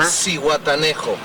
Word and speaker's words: Zihuatanejo: And you pronounce the name here? Zihuatanejo.